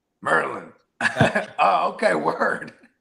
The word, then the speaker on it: Maryland: Marin on my mouth it's funny I said Merlin because that all my homies from from DC Merlin they said Noah bro you're saying it wrong meryland oh okay word like